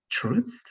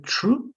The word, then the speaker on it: truth: Y no solamente va a ser true, porque true, como lo dices, es que termina en una E. Y eso significa verdadero, ¿no? Pero para que signifique verdad lo que pronuncias, tiene que sonar la TH del final.